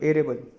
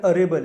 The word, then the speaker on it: arable: Next अभी aquatic के बाद एरेबल, एरेबल, ठीक है। तो एरेबल यानी उसका एक्चुअली प्रोनाउंसिएशन है अरेबल है, अरेबल, ठीक है।